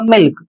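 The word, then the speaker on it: milk: और इसका उच्चारण होगा मिल्क। तो यहां पर एल के बाद के आया है लेकिन एल का उच्चारण ल के रूप में किया जा रहा है।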